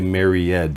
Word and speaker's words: married: Describe a married man. Some students will say married and add a syllable. It's married. It's just a D sound.